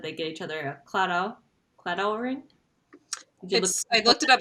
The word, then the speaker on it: Claddagh: guess, is that they get each other a claddagh ring. I looked it up. It's spelled Claddagh.